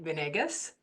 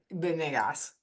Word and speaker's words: Venegas: But I am Venegas, and in Spanish it's Venegas. So it can go either way.